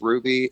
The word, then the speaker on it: Hruby: The silent H throws a lot of people off. I, you know, I I I grew up and I would always have to say it's Ruby. H R U B Y. And I would have to just spell it out for people.